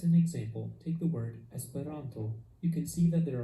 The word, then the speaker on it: Esperanto: the second to last syllable so this is pronounced esperanto now it's your turn practice reading these words